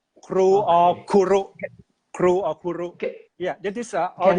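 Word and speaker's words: ครู: In Thailand, we pronounce teacher as kru, or Okay. kuru.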